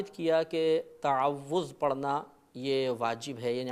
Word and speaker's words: تعوذ: مبتلا ہو جاتی ہے۔ صحیح لفظ ہے تعوذ، تفعل کے وزن پر۔